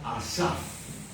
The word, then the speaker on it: Asaf: Asaf, como suena, A-S-A-P-H al final. Si quieren escribirlo con F o con P-H, su nombre se pronuncia Asaf.